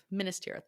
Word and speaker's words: Minas Tirith: Minas Tirith. Minas Tirith.